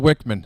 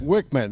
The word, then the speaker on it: Wickman: name, because I've heard Wickman. Everybody's talking. What is? I was told Wickman. Wickman.